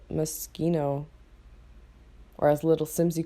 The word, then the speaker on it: Moschino: mosquito pack honestly I've always heard it pronounced Moschino like motional clothes but I don't know like I've been hearing people call it mosquito or as little Sims